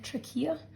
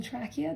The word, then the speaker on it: trachea: Some people might know this as the trachea or the trachea, depending on how you want to pronounce it.